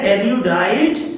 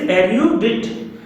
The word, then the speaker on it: erudite: erudite, इसका pronunciation पे ध्यान दीजिएगा, यह erudite नहीं है, this is erudite.